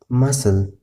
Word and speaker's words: muscle: سی توری سایلنټ دی که چیرې د اس څخه وروسته راشي. مثلا scissors، muscle. ګوره د اس څخه وروسته سی راغلی دی نو سی نه تلفظ کېږي چې مسکل وایه یا مثلا نور. مسل سی سایلنټ دی.